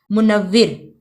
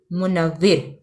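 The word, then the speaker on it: منور: मुनव्विर, meme पेश, नून ज़बर, वाव ज़ेर और रे साकिन, मुनव्विर।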